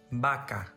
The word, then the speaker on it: vaca: In Spanish, there is no difference between letter B and letter V. For example, bate, vaca, vapor, bebida.